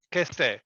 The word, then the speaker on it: Kesté: Of course, we change the C with the K because the pronunciation, but that is mean in Naples. This is it. Questo è Kesté.